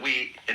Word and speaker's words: wei: So what everybody wants to know then is how to acquire that great naturalness in everything, so that we, in our human lives, manifest the Tao.